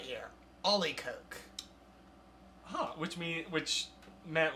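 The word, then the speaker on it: olykoek: Oh, actually, there's a whole pronunciation right here. Ollie Coke.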